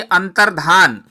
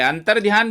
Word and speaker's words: अंतर्धान: तो अंतर्धान ठीक है, अंतर्ध्यान बिल्कुल गलत शब्द होगा, गलत उच्चारण होगा, इसलिए ठीक शब्द याद करिएगा, अंतर्धान।